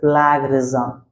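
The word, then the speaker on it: plagiarism: that is known as plag rism listen again and write down this is most important vocabulary so here see plagarism and I told you it's pronunciation it's plag rism the practice of boring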